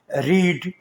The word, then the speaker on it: read: रीड, READ रीड first form, और READ इसको पढ़ते हैं रेड। यहाँ भी ए लिखा जाएगा लेकिन साइलेंट होगा। रेड का मतलब है पढ़ा। और जो तीसरी फॉर्म है फास्ट पार्टिसिपल फॉर्म, उसमें READ रेड, यहाँ भी ए साइलेंट होगा।